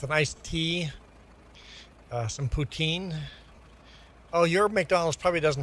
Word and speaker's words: poutine: Uh, the actual pronunciation should be uh poutin. Putin anglicized to put poutine.